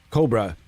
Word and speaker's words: Kobraa: and this is Cobra there's two A's Cobra got to say it like that you can't just say this is the Aurora GSP Cobra you can't do that it's got to be cobra